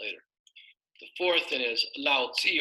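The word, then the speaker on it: Laozi: the fourth in is Lao Zi or some people pronounce at Lao Tzu and again he also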